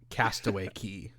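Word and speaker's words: Castaway Cay: a Disney cruise yeah Disney's is Castaway key but it's spelled CA why do they oh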